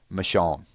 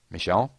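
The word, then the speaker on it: Michonne: My two candidates are Abraham and Michon. Michon Michon or Michon. Say it like they do in Atlanta, please.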